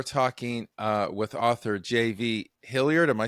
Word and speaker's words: Hilliard: uh today we're talking uh with author JV hilard am I saying am I pronouncing that right you are all right uh